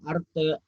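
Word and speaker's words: artı: Ya, ini cara bacanya, lihat ini. Di bawahnya ada arte, eksi, carpe, sama bolu.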